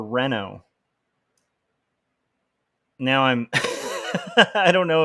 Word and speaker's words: Renault: okay uh Debbie uh said Reno is the correct pronunciation it's French if that helps thank you that helps a lot I hope I got it right that time so it's like Reno like Reno Nevada or Renault now I'm I don't